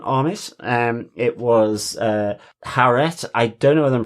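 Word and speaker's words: Taweret: um it was uh haret I don't know whether I'm pronouncing right it's t a w a r e t but it's given with a h h sound so it's haret very um and uh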